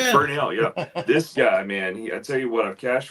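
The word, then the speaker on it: Bernabel: Yeah, Bernell.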